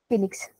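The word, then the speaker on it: Phoenix: फिनिक्स, फिनिक्स है, ओ silent होता है।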